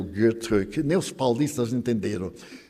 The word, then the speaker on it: Goethe: E existe Goethe, eu sabia pronunciar Goethe, antes eu pronunciava Goethe, mas eu tenho uma amiga suíça, e ela me disse, em alemão não tem os sons agudos, é Goethe.